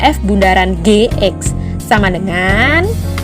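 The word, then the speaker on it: f ∘ g: sampai sini jelas Oke jadi cara bacanya ini apa sih F Bundaran G ini bundarannya di tengah ya Ini bukan derajat jadi di pas di tengah-tengah jadi F Bundaran di ini bukan o atau nol jadi Bundaran kecil F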